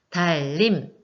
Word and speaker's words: 달님: 그래서이 친구는 첨가에 들어갑니다 달님 달님 자 발음이 어떻게 되나요 앞에 있는 릴과 뒤에 있는 니은이 만나서 니은이 리우라고 비슷해지고 싶은가 봐요 자 그럼 이거는 유마에